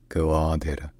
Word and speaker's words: Gwadar: development projects in theu this it is called Goa Goa all right if you enjoy learning our pronunciations don't forget to subscribe to my channel